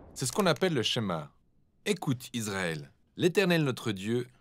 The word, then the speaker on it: Shema: est écouté ou entendre prononcez schéma en hébreu et c'est ce mot